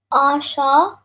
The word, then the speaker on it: Asha: So if you join the sha and the ha, it becomes sha, right? So instead of saying shaha, you would just say sha.